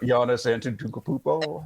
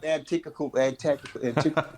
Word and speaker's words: Giannis Antetokounmpo: Giannis Antetokounmpo. Yep, Antetokounmpo. It's that one the syllable alphabet just hiding in there.